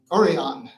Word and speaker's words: Orion: Did I get the pronunciation close to right that time? Orion, yeah.